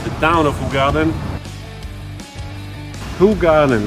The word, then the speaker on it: Hoegaarden: town of the garden who garden like you pronounce who garden who God and who garden right who garden and look at this